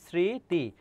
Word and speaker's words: স্মৃতি: যেমন স্মৃতি, স্মৃতি এর উচ্চারণটা কি হবে বলতো, এই দন্তস্বয় থেকে যাবে, আর ম ফলা শুরুতে থাকলে তার উচ্চারণ হয় না, তাহলে উচ্চারণটা হবে দেখো স্মৃতি, আর ম ফলা থাকলে চন্দ্রবিন্দু হয়।